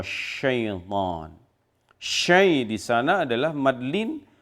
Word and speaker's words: شيطان: Sya itu adalah bukan sekedar sa, jadi bukan s biasa tetapi tebal sya. Maka cara membacanya adalah fa'azallahuma syaitan.